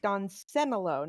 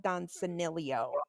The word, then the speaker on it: Don Senilo: Well, currently the argument is the inability for both of you to pronounce his name correctly. Don Senilo, not Don Senilio.